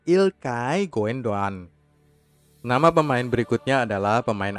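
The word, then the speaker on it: Gündoğan: penempatan yang benar adalah ilkay gundogan ilkay gundogan sekali lagi ilkay gundogan ingat saja tempe mendoan dari Banyumas ilkay gundogan nama pemain berikutnya adalah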